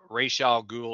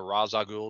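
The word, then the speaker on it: Ra's al Ghul: Adams but it was the origin of Ral ghoul or Raza ghoul depending on how you pronounce it uh in Batman 232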